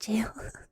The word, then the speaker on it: Gaol: poems by heart, though it's 100 plus, it's pronounced jail. The Ballad of Reading Gaol.